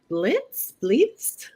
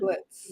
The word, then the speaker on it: Blietz: you may need to correct me on the pronunciation of your last name, Blietz. Oh, you had it right the first time. The first time. Blietz. Blietz, yeah.